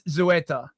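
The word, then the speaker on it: Ceuta: Apparently, it's Zoeta, not not Kueta. Zoeta. Thank you very much. Look, my my pronunciation is Zoeta.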